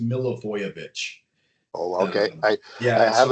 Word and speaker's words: Milivojević: Mark oh so it's it's uh pronounced milovich oh okay I I